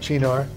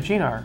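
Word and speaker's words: Cynar: Because it's from Italy. It's Gina. Italy, okay. Gina. Like ciao.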